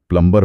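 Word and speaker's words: plumber: Fasten में T silent है, प्लम्बर में B साइलेंट है, काम में L साइलेंट।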